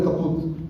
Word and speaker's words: kaput: Am I pronouncing it properly? Kaput? Yeah.